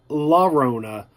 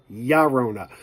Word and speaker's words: La Llorona: of La Llorona now it is spelled la Rana it is apparently pronounced gyro nough which makes it sound like my sharona like oh we got